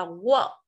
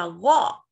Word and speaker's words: walk: Từ này mình không đọc là work. Nó rất là giống với từ, với động từ work, làm việc. Mình sẽ đọc là walk, âm o mà, walk, walk.